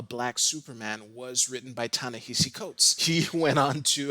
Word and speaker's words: Ta-Nehisi Coates: short amount of time i didn't even know how to pronounce his name uh so if in this video you hear me say tanisi coats that's just force a habit but i'm pretty sure i have it down to summarize the i